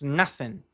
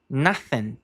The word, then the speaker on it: nothing: Nothing. Novamente o th com aquele som bem único do inglês que é a língua entre os dentes. Nothing.